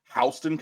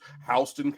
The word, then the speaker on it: Houston: a friend from Georgia apparently it's HST County it's spelled like Houston Texas but it's HST County with Antoine Lee